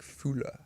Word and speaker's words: Fuller: It's of German descent, so I think it would be like Fuller if my sort of grandparents are German. But no, just Fuller Right.